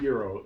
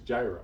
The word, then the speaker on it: gyro: you from lebanon pakistan are you from greece then you call it a euro i'm from america it's gyro let me ask you